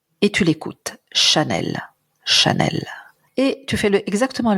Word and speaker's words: Chanel: l'exercice maintenant sur un autre nom qui est Chanel que j'ai cité tout à l'heure même chose